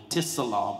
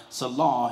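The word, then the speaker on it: צלע: we say the pelvis, but it's selah, T-S-E-L-A-W, tis-selah, but the T is silent, selah, he took out of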